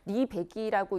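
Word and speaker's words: RE100: 지금 알리백이라고 했지만 뭐 이제 산업자원통상부의 보도 자료에 의하면 리백이라고 읽는 게 맞다는 얘기도 있습니다.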